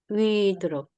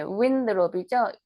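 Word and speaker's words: Winthrop: 시티 오픈 어힐 바이 존 위드롭, 네, 윈드롭이죠. WIN이니까 윈드롭. TH 발음, 번데기 발음해서 윈드롭 이렇게 발음하시면 되고요.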